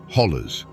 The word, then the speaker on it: hollow: They are ancient eroded walls that create a labyrinth of valleys, ridges, and hollows. Or as the locals say, hollers.